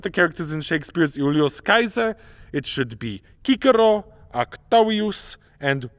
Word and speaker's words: Caesar: back to ancient Rome you would ask to meet Julius Kaiser there is no J and there is no Soft C in classical Latin and for the German